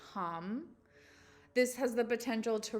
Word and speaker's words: Ham: This is the sound hum, HAM, but it's pronounced hum.